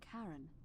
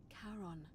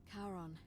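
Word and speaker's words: Charon: figure with a coin you described it your pronunciation is a little off the name you heard wasn't Karen it was c h a r o n as in Caron the ferryman the Dead karon who in exchange for the right coin helps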